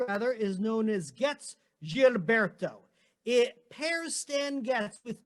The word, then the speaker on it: Gilberto: and the chief vocalist zhao girberto or gilberto the proper pronunciation and they record a